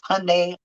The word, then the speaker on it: Hyundai: That's all you got to say is Hyundai Elantra. I used to own one as the only reason, and I had to be taught how to say it because it's weird.